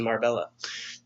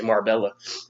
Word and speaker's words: Marbella: Jose blinked 3 años en Marbella. Jose lived 3 years in Marbella. Marbella. In English, we say Marbella.